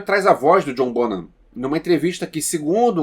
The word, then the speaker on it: Bonham: O John Bonham morreu em 1980 e eu aprendi com esse filme que se pronuncia Bonham, porque eu sempre falei John Bonham.